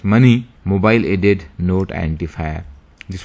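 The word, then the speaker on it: MANI: application is money moni so it is pronounced as money mobile added note identifier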